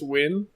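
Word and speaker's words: Nguyen: that subtle hint I've never known how to pronounce that name yeah I know I recently learned that n GUI en is win Wow yeah so that made me have no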